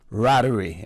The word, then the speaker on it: Ratteray: But this one has to do with a gentleman by the name of Charles Roach Rattery, and it's spelled Ratteray.